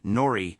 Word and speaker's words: norrri: The Korean word for play is pronounced as norrri when pronounced verbally, which is pronounced like a baby cooing, and the O rolls down and embodies the norrri logo.